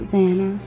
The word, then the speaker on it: Xana: It's like Hannah. You know how you pronounce it, Xana.